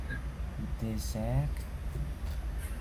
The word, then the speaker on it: désert: Et ces deux mots ont une grande similarité. Mais en fait, la prononciation est légèrement différente.